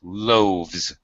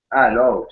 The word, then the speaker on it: loaves: Don't pronounce the E. Loaves. Loaves.